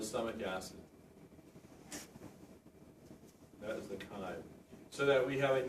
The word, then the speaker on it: chyme: That is pronounced chyme.